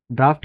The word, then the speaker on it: draught: इसकी प्रोनाउंसिएशन होती है ड्राफ्ट।